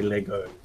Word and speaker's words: Lego: say Legos. Never say Legos. Always say Lego. People do not say like when you say Legos.